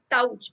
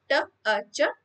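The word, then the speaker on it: touch: एच टी थॉट टच इथे सुद्धा ओ U letters आहेत पण टाऊच असं म्हणत नाही टच टच त्यामुळे हा पण शब्द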